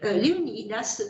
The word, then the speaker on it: Léonidas: comme par exemple Léonidas, je le prononce à la manière grecque, Léonidas de Taras, de Tarente.